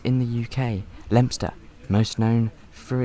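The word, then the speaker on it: Leominster: minutes we arrived into one of the most mispronounced names in the UK lempster most known through its antique shops and timber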